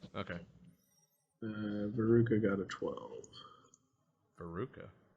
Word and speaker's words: Veruca: Veruca. Veruca, like the girl in Varric.